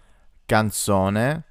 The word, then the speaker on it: canzone: We have a, such as in animale, b, as in barba or beard, canzone, the k sound, such as in cat, chiaro, ch, which is